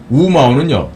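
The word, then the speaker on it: 五毛: 나누면 그게 1마호가 되거든요 그런데 우마오는요 다섯 오자를 갖다가 중국 발음이 우예요 그러니까 우마오 우마오다 그러면 이건 뭐냐면 그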